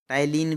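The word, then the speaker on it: ptyalin: Enzyme present in saliva, ये है amylase, इसको हम टाइलिन भी कहते हैं, पी साइलेंट है।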